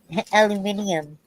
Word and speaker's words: aluminium: calmly and like deal Aluminum. well with the anesthesia and We have also have aluminum Coke cans. aluminium. Aluminium. Yeah, that's how they say it. Yeah, they say aluminium over there. We say aluminum.